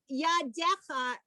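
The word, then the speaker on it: ידיך: Now, when Hebrew makes a contraction, sometimes there's this extra yud, which we don't pronounce, is indicating that the word, it's the plural. So yadecha is yadayim shelcha. Yadayim, hands. And the extra yud, which is there to say it's hands, not hand. Yad.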